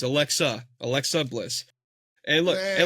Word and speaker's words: Alexa: Alexis Bliss wins it and she cashes it in on Tiffy. Well, if you're gonna if you're going to pick her, you got to say her name right. It's Alexa.